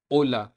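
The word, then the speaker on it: hola: एच मैंने पहले भी बताया था, एच हमेशा वर्ड्स के अंदर साइलेंट रहते हैं। जैसे कि फर्स्ट लेटर फर्स्ट वर्ड पे चलते हैं। ओला, ओला मतलब हेलो। सेकंड है ओम्ब्रे, ओम्ब्रे मतलब मैन। थर्ड है आओरा, आओरा मतलब नाव। अब नेक्स्ट लेटर है जे।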